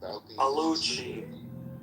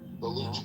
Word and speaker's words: Baluchi: You have this group that I think they were called like the Balki Balkuchi Baluchi.